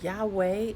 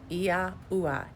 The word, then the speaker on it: Yahuwah: So the name Yahweh is not accurate. It's Yahuwah. That's how you pronounce it.